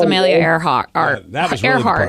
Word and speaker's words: Earhart: He could not pronounce Amelia Earhart. That was really the Earhart. part. He said Earhart, Arhart.